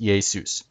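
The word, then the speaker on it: Ἰησοῦς: this is another form same letter and it's pronounced yesus but zeus in greek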